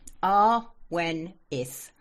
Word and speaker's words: Awenydd: Awenith. Awen is. Oh, I completely didn't have It's Welsh. Uh, which is the old British language. Um, so double D is sounded like th.